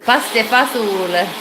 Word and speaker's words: pasta e fagioli: Pasta e fagioli. In America you say pasta e fagioli. Pasta fasul.